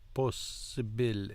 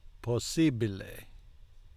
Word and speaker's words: possibile: Possibile. Possibile. Very good. And it felt good to take it slowly, no? Yeah. Like Possibile. Possibile. Because you accent the second to the last syllable of most words, right?